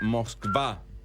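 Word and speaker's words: Москва: Moscú se pronuncia Moscva.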